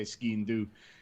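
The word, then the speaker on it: sgian-dubh: In Ireland we say skian dove, and in Scotland they say skian do.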